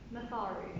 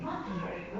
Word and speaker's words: Matharu: to have Matharu, how do you say? Matharu. Matharu, right.